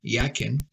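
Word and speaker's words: Jachin: their names are significant Jack can pronounce it actually is pronounced yakin means he will establish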